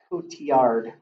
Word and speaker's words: Cotillard: context Macbeth start starring Michael Fassbender and Marion Cotillard is how you pronounce that another Shakespearean play alright so any